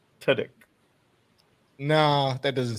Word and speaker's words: Tudyk: Two dicks? That's not how you say his name. How do you say his name? Tudyk.